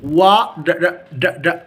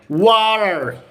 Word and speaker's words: water: Light D, water. Or water. You are going to replace T, the T will be replaced by R.